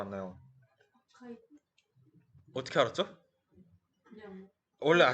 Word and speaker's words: arXiv: 아크시브 뭐라고 읽을 것 같나요? 아카이브 어떻게 알았죠? 그냥 원래 많이 아셨죠? 쓰지 않아요? 아 그런가요? 네, 저도 처음에 아크시브인가 뭐 그런 건 줄 알았는데 이거 그냥 아카이브라고 읽는 건데 이게 어떤 사이트냐면은 코넬